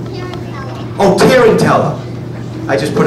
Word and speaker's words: Tarantella: Am I pronouncing it right? No? Yes? What is it called? Tarantella.